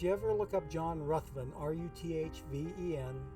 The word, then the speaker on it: Ruthven: was spelled the same as this but he pronounced it rathvin instead of Ruthven so um so I've got a living room